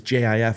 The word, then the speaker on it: GIF: it's it's it's GIF GIF is JF like the peanut butter giif is GIF it's